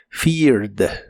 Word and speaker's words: feared: termina con e d en este caso no se pronuncia la e de casi al final feared fear en el pasado lo